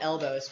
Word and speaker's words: Elbo.ws: It's I think called Elbows, but it's spelled out like elbo.ws.